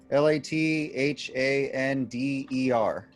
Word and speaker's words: Lathander: prays to the god laugh handler is that how it's pronounced doesn't sound like him like hander lifelander flat hander la l-a-t-h-a-n-d-e-r defender where'd you get that that extra syllable well that was gonna